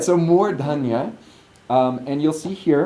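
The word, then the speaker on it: mūrdhanya: and we're at the murdhanya. Notice that I'm pronouncing that with a long oo and an aspirate dha, all in the dental position. So I'm not going dha, I'm going murdhanya.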